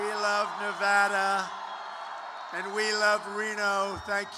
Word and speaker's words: Nevada: I said when I came out here, I said, nobody says it the other way. It has to be Nevada, right?